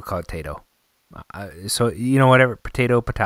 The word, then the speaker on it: Taito: you'll hear the the the manufacturer says tight oh so tight oh is probably the correct pronunciation of that and Taito is is is you know but I still caught a toe so you know whatever